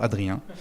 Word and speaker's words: Adrien: Um first I'm Adrian and uh this you pronounce it very well Adrian.